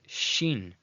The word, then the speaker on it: Shin: So when the dot at the top, the nikudei shin, is on the right side, it is shin, shin, okay, which is a sibilant making a sh sound, as in the word shady, shady.